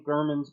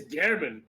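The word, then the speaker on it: Gehrman: since I had taken Gurman's place as the keeper of the hunter's dream. It's not Gurman, it's German.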